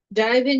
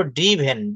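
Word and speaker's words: driven: আহ, এইটার কথাই তো জিজ্ঞেস করছিলাম, এটা তাহলে হি হ্যাজ ড্রাইভেন এ car. Thank you. হি হ্যাজ ড্রাইভেন, এটাকে আমরা উচ্চারণ করব ড্রিভেন।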